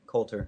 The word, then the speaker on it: Coulter: Coulter how do you say your last name Colter Coulter I said it right and actually this is